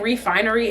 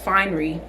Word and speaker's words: Fine'ry: like irking me um I keep saying Refinery it's just finery however however you pronounce